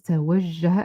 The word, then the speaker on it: توجه: And the verb here is توجه, and it must have ta. It rhymes with تأكد, تفعل. So توجه.